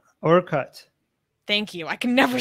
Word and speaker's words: Orkut: It's Okert, right? Is that how you say it? Orkut.